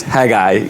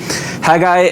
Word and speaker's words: Haggai: to the name but i believe the correct pronunciation is haggai just uh short and sweet haggai and zechariah are kind of partners and contemporaries